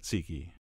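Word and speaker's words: tzatziki: spread that generously with tziki sauce although I think it's pronounced ziki who knows but I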